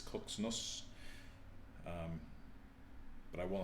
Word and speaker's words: CZNS: I went into vision, the entity said its name should be pronounced as Koxnos.